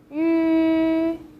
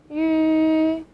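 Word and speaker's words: ü: The next one, yu. Yu. So you can start from saying yi first. Yi. We've just learned this syllable before. Yi. And then just trying to round your lip.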